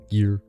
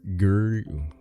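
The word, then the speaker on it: Gere: adapted into a movie Richard Greer gear g-e-r-e Gear girl I know how to say it I just don't like him so I'm gonna mess it up every time an annual Festival in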